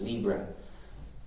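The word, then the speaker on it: libre: French or Spanish word which in English we could pronounce as Libra uh to make it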